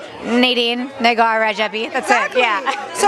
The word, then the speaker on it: Nadine Rajabi: How do you say your name in Farsi? Nadine Rajabi.